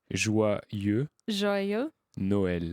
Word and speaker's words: Joyeux Noël: how Joyeux joyeux Noël.